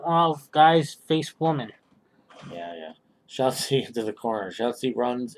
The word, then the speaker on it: Shotzi: Shortsy? Interrupted and... Shotzi.